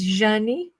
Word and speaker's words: Janie: biggest regrets when I started my channel is not pronouncing my name, my rune, the way it's supposed to be, because people got used to call me Jane, but it's Janie, because in Portuguese the J is like French je.